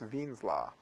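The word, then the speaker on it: Wien: Uh something that sounds like W's law, Wines's law, but it's sort of German, so it's pronounced Ven's law.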